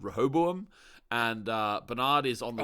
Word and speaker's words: Rehoboam: architect of some data prediction algorithm thing called Rehoboam, and Bernard is on the run. I tried to spell that.